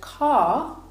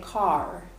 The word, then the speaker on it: car: So for example, in the word car, you can hear there that I don't pronounce the R, but in American English, they would say car.